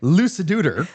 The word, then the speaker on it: Luciduder: Look, I didn't mispronounce that. It is actually Luciduder.